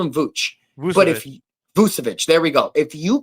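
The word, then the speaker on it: Vučević: So if you're able to get Nikola Vucevic, I can never pronounce his name right. I'll call him Vooch. But Vucevic, there we go.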